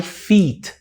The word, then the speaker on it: feet: Meus pés, my feet. E essa aqui, ó, é fit, que sou eu, né? Um cara super malhado. Fit. Mentira. Fit. A galera que faz crossfit, tem muita gente falando que faz crossfit. Feet são pés.